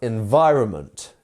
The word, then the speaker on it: environment: Which syllable in environment is our stress syllable? If you want to take the same logic that I taught you up there and put it onto environment, what would you say? It's our second one, right? Environment, not environment, or any of the others.